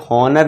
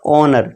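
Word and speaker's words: honour: इसे हॉनर नहीं पढ़ेंगे, इसका करेक्ट प्रोनाउंसिएशन क्या होगा, ऑनर।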